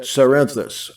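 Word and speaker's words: Cerinthus: heretics like cebutus and corinthus some pronounce that cyrenthus a well-known early heretic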